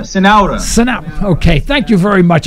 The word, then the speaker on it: Cenoura: Folks, with us, we have Centura, and how do you pronounce this last name? Cenoura. Cenoura.